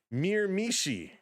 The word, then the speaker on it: Miramichi: Pronounced Miramichi.